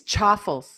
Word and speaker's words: chaffle: we did on making chaffles. Can I share a couple? Yeah, it's chaffles, Stephanie. Oh, it's chaffle? Yes, we were corrected on the comments.